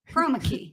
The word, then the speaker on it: chroma key: And I think the second word is pronounced That's chroma chromaki, key. Chroma key. or is it chromaki? It's chroma key.